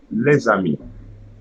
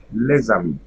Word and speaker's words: les amis: And at the beginning of the second word, I'm going to add a letter Z. So let's see this one. Les amis. Les amis.